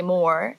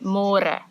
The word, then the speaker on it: môre: It's a little bit easier, but you have to remember to read môre, because in English it's spelled like more. So don't say more, say more.